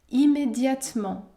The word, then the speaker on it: immédiatement: apporter fit apporter immédiatement on ne prononce pas la lettre e dans le mot immédiatement immédiatement de nouveaux habits de